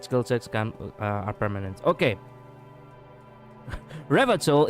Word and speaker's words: Revachol: Revatol is pronounced Revachol.